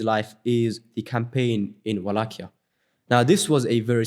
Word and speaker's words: Wallachia: Wallachia was basically, or some people pronounce it Wallachia, however you want to pronounce it, they were another vassal state to the Ottomans.